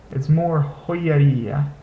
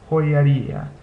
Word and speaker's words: joyería: a Y in there, this isn't really pronounced with a Y sound. It's more joyería, joyería. The Y sound just kind of comes out naturally when you say these diphthongs together like that.